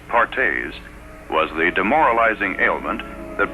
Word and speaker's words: Perthes: doctors another crippling disease known as Perthes pronounced pares was the demoralizing ailment that brought this little